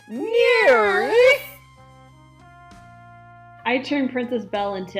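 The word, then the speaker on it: NIRYF: i r YF pod those are the letters for the name of the show and it's pronounced near I turned princess Bell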